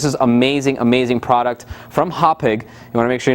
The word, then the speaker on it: Hauppauge: You gotta pronounce it Hauppauge. You gotta really let it rip.